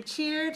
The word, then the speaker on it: cheered: Is this an extra syllable or a sound? Just one sound, because cheer, one syllable. Cheered, also one syllable. Okay, so cheer, and then we add d, but we don't add another syllable.